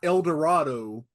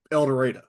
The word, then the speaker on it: El Dorado: minutes which way west it's not El Dorado it's eler and then for 45